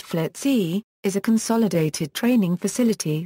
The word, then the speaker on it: FLETC: The FLETC, commonly pronounced FLETC, is a consolidated training facility that provides basic and advanced training to U.S.